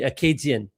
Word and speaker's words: Acadien: So even the word Acadian, like the way that, French people in this country, in Canada, would say it, or the proper way to say Acadian would be Acadien, right?